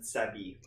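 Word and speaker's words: ザビー: which is called Kamen Rider Zabi. The bee. To be fair, bee and wasp are the same word in Japanese. It's the bee, but they pronounce it Zabi.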